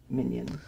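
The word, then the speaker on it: Minyin: Minion.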